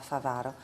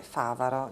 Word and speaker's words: Bavaro: proprio uscirà spontaneo di di leggerlo con l'accento sulla seconda favaro poi però considerando che tu hai origini venete favaro giusto giusto perché favaro è un esempio di parola sdrucciola e proprio se andiamo